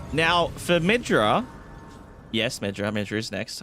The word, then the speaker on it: Midra: I'm just gonna midra. Emphasis on the mid.